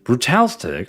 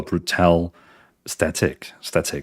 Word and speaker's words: Brutal Static: That's Brutalstick. I appreciate that. Thank you for the raid. Welcome in, raiders. Let's give a dear Brutalstick. Well, Brutal Static. I keep saying your name wrong.